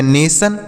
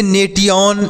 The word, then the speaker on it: nation: यहाँ पर लिखा गया नेशन, यानी NATION नेशन हो गया। इसे नेटियन, नेटियो ऐसे कुछ नहीं पढ़ेंगे, इसे नेशन पढ़ेंगे।